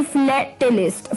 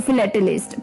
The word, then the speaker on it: philatelist: इसी के साथ जो 8th यानी कि 8वां वर्ड था शाम का, अटपटा सी था वर्ड और प्रोनाउंसिएशन भी थोड़ी अलग थी, वो थी फिलेटलिस्ट. फिलेटलिस्ट, PHILATELIST, फिलेटलिस्ट. फिलेटलिस्ट यानी कि अ collector and student of postage stamps.